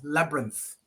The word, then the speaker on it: labyrinth: lab It's not labyrinth. It's labyrinth. larynx.